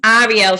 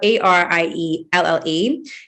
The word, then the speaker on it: Arielle: So my name is Arielle. It's spelled Arielle. Ariel is the male version of my name. So like if you say French, ELLE is female. That's obviously how you say my name.